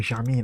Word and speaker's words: Germain: PSG, Paris Saint-Germain, or Germain, how they pronounce it, are champions of Europe for the second time in a row, defeating Arsenal on penalties.